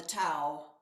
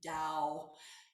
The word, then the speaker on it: Tao: lao tzo from the tao and or actually i probably mispronounced that i think it's meant to be dao um so judith tick